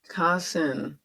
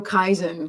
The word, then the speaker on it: Kasen: Kasen. My brain keeps wanting to go Kaizen, Kaizen, Kaizen, because it's just one letter off.